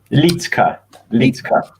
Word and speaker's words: Liedtke: I don't wanna say your last name wrong. Is it Liedtke? How you say your last name? Liedtke.